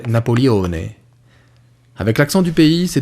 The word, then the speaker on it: Napoleone: reflète ma personnalité napoléon c'est mon prénom maman prononcer napoleone avec l'accent du pays c'est devenu une embrouille